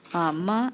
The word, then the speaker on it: 妈: 妈 is what we called a question particle.